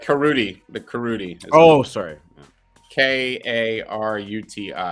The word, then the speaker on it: Karuti: the karuti oh sorry k-a-r-u-t-i karuti it is a waifu project anime uh ladies yes still doing that i guess rhymes with booty lands of karuti yes